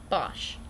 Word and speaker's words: Bosch: or who forgot and yes it is actually pronounced like that Bosch oh know it's been a fairly good week